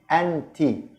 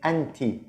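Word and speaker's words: أنتِ: girl it will be empty it's written the same but here the short vowel here there is fat ha and here the disgust row under the tab so it will be empty empty so you're here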